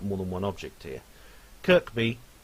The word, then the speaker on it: Kirkby: than one object here Kirkby which I wrongly pronounce as Kirby in the last video